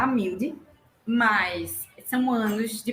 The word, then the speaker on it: Amiúde: Não, meu nome se pronunciar Amilde, mas são anos de pronúncias erradas e eu fico com pena das pessoas que pronunciam errado, eu não corrijo mais.